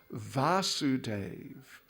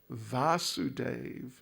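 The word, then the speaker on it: Vāsudeva: it very slightly so krishna's father is vasudeva vasudeva a short a vasudeva and therefore his name in relation to his father is vasudeva with a long a vasudeva is the son of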